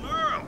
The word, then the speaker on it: Merle: Hey there, I'm Merle. Spelled like Hurl.